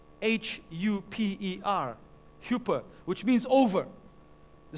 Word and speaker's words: huper: The first word in the Greek is spelled H-U-P-E-R, huper, which means over.